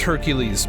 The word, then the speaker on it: Hercules: Ah, Heracles is Hercules, but Hercules is the Roman pronunciation.